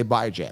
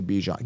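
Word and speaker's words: Bijan: to say it and I guarantee 9 out of 10 people will say bye Jam they will not say Bijon guaranteed 100 I don't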